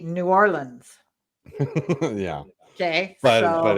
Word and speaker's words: New Orleans: know properly yes because you're supposed to probably say nollins probably i always just say new orleans yeah okay but but